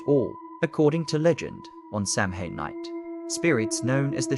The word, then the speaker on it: Samhain: A night called Samhain, pronounced Samhain, celebrated over 2,000 years ago by the Celtic tribes of Ireland and Scotland.